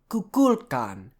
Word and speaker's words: Kukulkan: That's Kukulkan. So the stress is going to be on the second syllable.